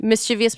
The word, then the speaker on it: mischievous: mischief they are a mischievous person say say it slower mischievous mischievous mischievous misch vs I Don't Say mischievous I'm strictly a three syllable mischievous guy you this okay so